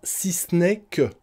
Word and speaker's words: si ce n'est que: Et on le prononcera: si c'n'est que.